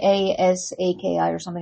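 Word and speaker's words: Psaki: Wasn't it's pronounced because wasn't it like P A S A K I or something? It was pronounced like Saki.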